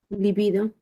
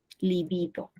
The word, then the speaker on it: libido: Libido. Libido. O sea, se pronuncia como una grave, ¿correcto? Otra es la posición del acento.